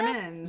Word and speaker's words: Crimmins: Craig Crimmins, is that how we say his name, Olivia? Crimmins. Yes.